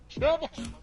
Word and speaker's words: Chuba: I want to know why Chuba Hubbard is a third-round pick. He's one of the best running backs, probably this year. Chuba.